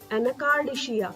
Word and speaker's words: Anacardiaceae: Again, I will pronounce Anacardiaceae. Family is Anacardiaceae.